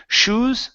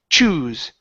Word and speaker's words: choose: so same thing okay instead of saying shoes that would be what you put on your feet those are shoes okay this is CH choose huh CH choose okay you're